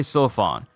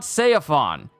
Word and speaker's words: Seofon: let's play Let's Play sofon dude I've been saying San's name wrong this whole time I've been mispronouncing it it's pronounced so Fon it's not seaon it's soan I've been saying it